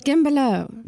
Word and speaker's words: Guimbellot: It's French. Guimbellot. Guimbellot. So the U and T is silent.